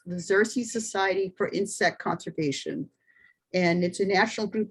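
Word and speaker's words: Xerces: report to the parent organization which is the xerxes or it's that's spelled x e r c e s the xerxes society for insect conservation and it's a national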